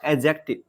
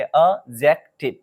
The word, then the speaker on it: adjective: और ये याद रखें बहुत स्टूडेंट जो है इसे एडजेक्टिव पढ़ लेता है, ये क्या है गलत है, एडजेक्टिव नहीं पढ़ेंगे हम, डी को साइलेंट ही कर देना है तो पढ़ेंगे अजेक्टिव, मतलब डी नहीं पढ़ना